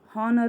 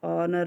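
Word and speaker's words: honor: ಅಂತ ಬರುತ್ತೆ ಏನ್ ಬರುತ್ತೆ ಹಾನರ್ ಹೌದ ಹೌದಾ hಚ್ ಓಎಚ್ ಓಎಆರ್ ಆನರ್ ಅಂತ ಬರುತ್ತೆ ನೋಡ್ರಿ ಇಲ್ಲಿ ಸಹ ಏನಾಗುತ್ತೆ hಚ್ ಬಂದಿದೆ ಬಟ್ ಎಚ್ ಸೈಲೆಂಟ್ ಆಗಿದೆ ನಾವು ಹೆಂಗೆ ಬಳಸ್ತೀವಿ ಆನರ್ ಅಂತ ಆನರ್ ಆನರ್ ಅಂತಇದೆ ಇಲ್ಲಿ ಏನ್ ಮಾಡಬೇಕು ನಾವು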